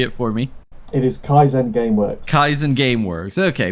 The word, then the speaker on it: Kaizen: of you say it for me it is kaisen Gameworks kaisen game works okay perfect uh so